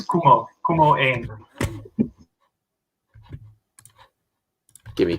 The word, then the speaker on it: Koemo: Yeah, for years people say Koemo. It's Kumo.